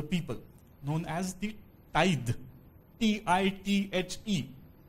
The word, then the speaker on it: tithe: T-I-T-H-E. Despite the spelling, the pronunciation is tithe.